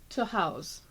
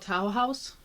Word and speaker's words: Tahawus: tah house tah house if you look at it you might think it's called tow house but it's toah House New York and that actually is